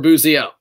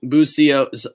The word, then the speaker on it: Busio: correct pronunciation is busio others say boozio like it's uh z instead of an s because it is an italian name his uh gianluca's father